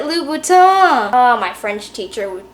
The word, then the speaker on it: Louboutin: have so many sneakers louboutin not louboutin it's a french brand pronounce it louboutin oh my french teacher